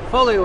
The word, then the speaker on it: Foglio: Folio is spelled F O G Lio.